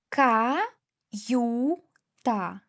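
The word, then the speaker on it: каюта: Ka yu ta. Yu two sounds because after another vowel, vowel a.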